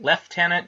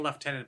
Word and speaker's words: lieutenant: think it matters isn't isn't left tenant just the British pronunciation of Lieutenant yeah pretty much fair as a Canadian I should be saying leftenant but I grew up saying Lieutenant because I watched GI